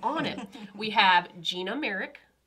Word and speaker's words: Marek: Did I pronounce that correctly? Yes. Heck yes. I'm on it. We have Gina Marek, right?